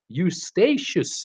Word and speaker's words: Eustatius: Saint Istiastes, or he's saying Eustachius. Eustachius is how he's telling me how to say it.